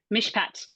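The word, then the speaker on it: מִשְׁפָּט: off that vow it's a p and it's got a doish in it so it's a hard P yeah yep what comes next what's in Mish Pat okay and it's a comet so it's a long I and then a t now is it a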